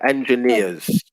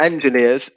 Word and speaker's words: engineers: engineers is the pronunciation so we stress yeah we stress the final syllable for that one yeah engineers engineer not not engineers engineers okay yeah okay